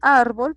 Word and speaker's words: árbol: Aquí también tenemos árbol, por ejemplo. Árbol tiene dos sílabas, se compone de ar y bol. Ar es la sílaba que tiene mayor acento, por ende es una palabra grave.